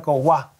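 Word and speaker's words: koygua: La Y se pronuncia como U en el guaraní y significa agua.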